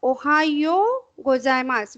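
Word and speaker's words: おはようございます: So, Ohayo gozaimasu. Wherever double O is there, you have to prolong it.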